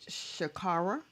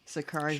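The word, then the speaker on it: Sha'Carri: Is it Shakara Richardson? Is that how I pronounce her Shakari name? Richardson. Shakari Shakari Richardson.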